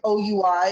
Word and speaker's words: oui: um so we send oui is a french word for we which is yes um which is how it's spelled but it also sounds like we um which really speaks